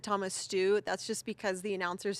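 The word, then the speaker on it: Steu: making me laugh it's funny he said Thomas stew that's just because the announcers here in America pronounce it Stu and actually it's pronounced Joy so I just appreciate his humor and also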